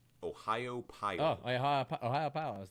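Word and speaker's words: Ohiopyle: Ohio Pile.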